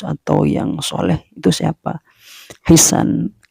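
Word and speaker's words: حسان: Hisan. Ini Ustadz Adi Hidayat bacanya Hasan. Kalau tulisannya menurut saya Hisan ya. Tapi saya lihat dari beberapa referensi itu Hasan bacanya ya.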